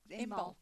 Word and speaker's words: Imbolc: It's Imbolc. Imbolc. Thank you. That's right. Told you my pronunciation You won't can be tell good.